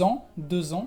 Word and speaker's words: ans: Así es, para empezar la S la vas a encontrar en las palabras en el plural, por ejemplo, un an, que es un año, deux ans, que es 2 años, la S no se pronuncia, o un ami singular,